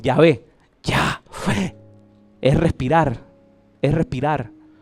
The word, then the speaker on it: Yahvé: ¿Y cómo se pronuncia? Jehová. Así es como se pronuncia. Ah, no, perdón, Yahvé.